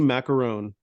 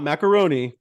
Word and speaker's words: Macaron: up your name Chelsea macaron not macaroni macarons I wanted to make sure I didn't mess it up I didn't want to say macaroni I want to make sure I say it right well in order not